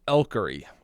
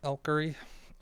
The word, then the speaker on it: Elkery: So, I think that's a my I'm pronounced Elkery is how I pronounce it. Elkery.